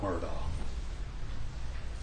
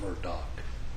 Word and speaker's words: Murdaugh: our honor to represent Alec Murdoch from Murdock depending on how you pronounce it I say it's